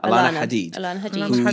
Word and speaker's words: Alana: um how do you say her first name Alana Alana yes she is of the Hadid family she